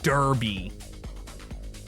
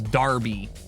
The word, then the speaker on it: Derby: when I found out how you guys pronounced Derby I mean how you pronounce Darby this is um New